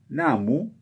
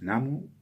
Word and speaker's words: Namu: Entonces, lo que instaura Nichiren es la recitación de myoho renge kyo, antecedido por Namu, que la U se pronuncia casi aspirada, digamos, Namu, Namu, o sea, casi no se pronuncia y en algunos lugares de Japón es muda, digamos.